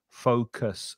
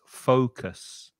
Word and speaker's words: focus: The vowel sound with the O is O, fo, focus. And the second vowel sound, the U is pronounced so it's focus.